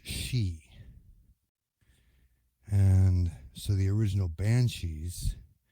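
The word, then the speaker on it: sidhe: same name obviously s-i-d-h-e which looks like city is pronounced she and so the original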